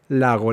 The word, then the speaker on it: lago: Y luego metes la L. Lago, lago, lago, lago, lago. Así se pronuncia la palabra lago, lago.